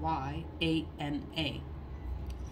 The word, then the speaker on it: Vajrayana: then I could repeat it, because I can't pronounce it. Vajrayana. It's Vajrayana.